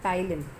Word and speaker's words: ptyalin: Enzyme name is amylase, or it is also known as ptyalin. P is silent. Students, please focus. P is silent. This enzyme is known as ptyalin or amylase.